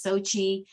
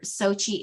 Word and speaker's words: Xochitl: pronunciation is actually and some people have a really hard time rolling their tongue with the TL at the end but if you can say that or Sochi is fine with me